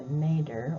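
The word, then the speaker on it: nadir: rebound so when they get close to the nader or the lowest allowable point and nader is spelled n-a-d-i-r they'll give the gcsf and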